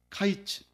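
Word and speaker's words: קיץ: 그런데 히브리어로 보게 되면 카이츠 캐츠 이렇게 되는 거예. 하나님께서 아모스에게 네가 무엇을 보느냐 하니까 아모스가 하나님께 카이치를 봅니다.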